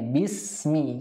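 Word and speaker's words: بِسْمِ: adalah mengganti huruf ya ketika kita mengganti huruf Sin di sini dengan syin misalkan Bismi itu ee salah dan mengakibatkan Salat kita tidak ya bis ya harusnya jelas sinnya Bismi kemudian lam ee ketika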